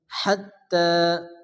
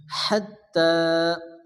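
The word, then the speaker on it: حَتّٰى: টান দিয়ে পড়তে হবে সালামুন সালামুন হিয়া হিয়া হাত্তা এখানে তার উপরে খারাপ জবর 11 পরিমাণ টান দিয়ে পড়তে হবে হাত্তা আমরা যে ইয়াটা দেখতেছি ইয়া হচ্ছে রসমুল খাত লেখা আছে কিন্তু উচ্চারণ হবে না হাত্তা মাতলাল এখানে তর উপরে জজম তল করা হালকা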